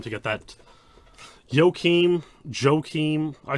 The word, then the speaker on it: Joachim: so very epic for Joachim to get that. Joachim, I say Joachim, Swedish names I pronounce with a soft J, you know, but I could be wrong, so I'll say Joachim until he corrects me.